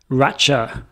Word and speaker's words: Racha: grape variety grown in Racha, I believe is the pronunciation. I could be wrong. Is it Racha? Could be Racha, which is R-A-C-H-A or R-A-T-C-H-A, depending on where you're reading it.